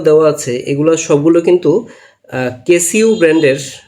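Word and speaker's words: Casio: কিন্তু কেসিউ ব্র্যান্ডের, বা কি উচ্চারণ করে এটাকে, কেসো, কেসো না কেসিউ, আচ্ছা আমি কেসিউ বলি। এগুলো সব কিন্তু কেসিউ ব্র্যান্ডের, এই সবগুলো মডেল কিন্তু কেসিও ব্র্যান্ডের, ঠিক আছে। তো কেসিওর ব্র্যান্ডের নাম হলো কেসিও, এবং এই যে শুরুতে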